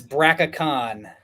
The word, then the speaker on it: Braca Khan: That's Braca Khan, my skeletal dragon. So how much? Who I very intentionally made rhyme with Shaka Khan so I could play it.